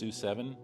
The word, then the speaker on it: S007: the procedure sue7 or s007 pronounced sue7 um and I made